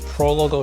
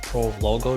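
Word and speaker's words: Prologo: a lot of our non-italian reps calling this the pro logo jersey pro logo would be the right pronunciation it means prologue and italian this is by far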